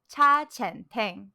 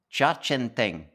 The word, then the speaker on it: Cha Chaan Teng: Cha Chaan Teng. Cha Chaan Teng.